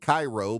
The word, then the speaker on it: Cairo: We also have Cairo, Georgia, which you would think is like the syrup, Karo, but nope, it's spelled Cairo, but they pronounce it Cairo.